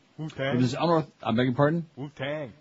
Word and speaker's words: Wu-Tang: Wu-Tang. You gotta say it like that. You gotta say it properly. Well, don't be saying no Poo-Tang.